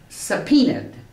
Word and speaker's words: subpoenaed: Tell you how to pronounce that word properly. Subpoenaed.